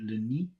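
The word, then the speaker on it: le nid: and then we have l-e-n-i-d which should be lini and then we have l-e-f-o-u-fu and that's l-e-s-o-u-s the suit 73.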